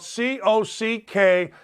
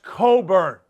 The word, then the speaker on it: Cockburn: player and kofi coburn don't say his name phonetically it's spelled c-o-c-k-b-u-r-n that's not cockburn that's coburn remember it anyway coburn